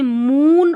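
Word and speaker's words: moon: एक तो छोटा ऊ और एक है बड़ा ऊ, ठीक है। जैसे मून, और ये मून में बड़ा ऊ है और बुक में छोटा ऊ है।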